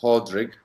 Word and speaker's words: Pádraig: First of all, it's pronounced Pádraíg, P-A, Fada, D-R-A-I-G. And you notice I said Fada after the first A. And a Fada is an accent in Irish, and it means long.